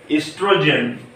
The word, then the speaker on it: oestrogen: Ovaries also release female sex hormone called estrogen. See here, it's written Oestrogen. O is silent here, so we will read it estrogen.